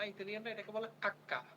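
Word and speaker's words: acca: ভাষায় শুধুমাত্র লেখার সময় লেখে ইতালিয়ানরা এটার কোন উচ্চারণ করতে পারে না ইতালিয়ানরা এটাকে বলে আক্কা কি বলে বলেন তো দেখি আক্কা হাক্কা হাক্কা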